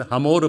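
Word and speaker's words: חמור: 히브리어로 나귀하고 더미는 똑같은 하모르 발음을 내는 단어입니다.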